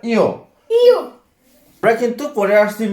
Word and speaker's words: ঞ: এটা আমরা সবাই জানি কি নিয়, নিয় কিন্তু এটার উচ্চারণ নিয় হবে না, এটা হবে ইয়।